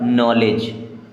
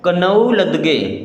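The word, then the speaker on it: knowledge: इसे हम पढ़ते नो अब इसे यहां पर डी होता है साइलेंट इसे क्या पढ़ेंगे लेज क्या हो जाएगा नॉलेज इसे पढ़ेंगे नॉलेज अब बच्चे क्या पढ़ते हैं कनऊ लद ग क्या पढ़ते हैं कनौ लद ग और नॉलेज को हम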